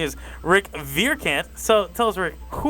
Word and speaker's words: Vierkandt: It's none other than Rick Vancer. Hello Rick. How are you today? Good. How are you Michael? Oh great. Just tripping over myself. So the the correct pronunciation of Rick's name is Rick Vercant.